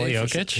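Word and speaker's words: Jokić: Jokic is kind of a hard name. Yeah. Nicole Yokic.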